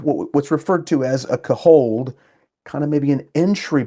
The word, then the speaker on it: CAHOLD: Okay, I was saying it wrong. I used to say hold, and then I got sharply corrected in the chat. It's hold, right?